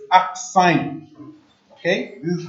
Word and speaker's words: arcsine: the power of -1, which is pronounced as arcsine. Okay, this is how you spell it, arcsine. Yeah, it's A-R-C. Okay, it's pronounced as arcsine, so it becomes arcsine.